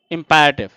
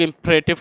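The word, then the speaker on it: imperative: First इंपैरेटिव, जिसे आप लोग इंपरेटिव कहते हैं, एक्चुअल प्रोनाउंसिएशन उसका इंपैरेटिव होता है।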